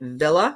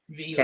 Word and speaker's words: Vila: So you're back there, and it's actually, is it Villa? Vila? Yes. Vila.